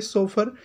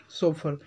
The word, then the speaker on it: chauffeur: दोस्तों हम एक स्पेलिंग होती है सोफर, उसको भी हम बोलते हैं कैब ड्राइवर, जैसे किराए के लिए जो रखते हैं सोफर। इसकी CHAUFFEUR सोफर।